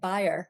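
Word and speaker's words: Bayer: us an example from, I'm going to say it, buyer. I think that's the way you say it correctly. I'm not sure. You can let me know. What are your thoughts, Stephen? That's the way all the Germans say it.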